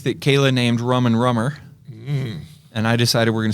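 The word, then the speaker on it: Rumber: We're going to serve a rum drink that Kayla named Rum and Rummer. And I decided we're going to spell it with a B, like R-U-M-B, R-U-M-B-E-R, Rum and Rummer.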